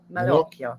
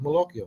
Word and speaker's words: Malocchio: Malocchio. Malocchio.